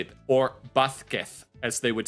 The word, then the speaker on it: Vasquez: It's Vasquez. Vasquez is how you say this name. Whenever the letter V comes after a consonant, you gotta pronounce it B.